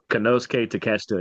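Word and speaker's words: Konosuke Takeshita: I think it's him and Teasta, I believe, which is how you say that. Don't say it phonetically. It will not come out right. Kenoske Teacha is how you say that guy's name.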